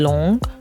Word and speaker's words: long: It's like a extended ooh. You gotta open your mouth some more.